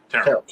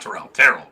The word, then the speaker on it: Terrell: And it is Terrell. I've been a dumbass and mispronounced his name. Terrell, not Terrell. Terrell.